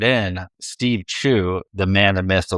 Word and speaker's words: Chou: So best pronunciation for your last name? Chou. Okay. Glad I asked. Because my American eyes want to say Chow.